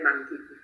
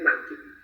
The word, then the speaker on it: mancipi: Mancipi es en un latín clásico, donde la C se pronuncia como una K, como una Q.